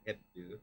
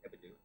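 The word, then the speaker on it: Hebdo: liked Who Um this magazine the magazine charl it's spelled Charlie Charlie heo all H EB d o hebo hebo anyway so these guys came in shot up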